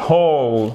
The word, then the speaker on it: hole: Là, on prononce le H ou pas? Yes. Donc, ça commence par quoi? Une consonne, exactement. Donc, un trou, n'importe quel trou. A hole.